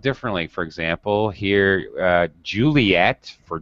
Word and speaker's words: Juliet: And that is why Juliet here in this alphabet has to have two T's. So French people will pronounce it.